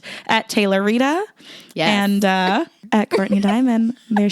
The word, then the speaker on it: Tayloritah: etay lor ITA H the H is silent at Taylor Rita and at Courtney Diamond